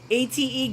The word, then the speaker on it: ate: ATE Gwendy, 8 Gwendy. There are, of course, fellow Filipinos in my chat. It's actually pronounced in my country as ate. ATE, spelled as ATE, but pronounced as ATEH.